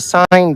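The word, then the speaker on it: seine: called the Black Panther that's a sign boat um SI NE I believe it's spelled but it's a large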